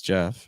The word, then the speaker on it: Jeff: Once more, my name is Jeff. It rhymes with breath.